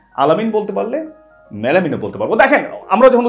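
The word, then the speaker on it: melamine: আমরা বলি মেলামাইন, হবে মেলামিন, আলামিন বলতে পারলে মেলামিন কেন বলতে পারবো না তাই না? আমরা বলছি মেলামাইন, ভুল, মেলামিন তাই না, আলামিন বলতে পারলে মেলামিনও বলতে পারবো।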